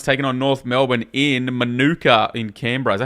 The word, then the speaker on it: Manuka: Last game of the round, we got the GWS Giants taking on North Melbourne in Manuka in Canberra. Is that how you say it? Manuka Oval, yeah. Manuka, there you go.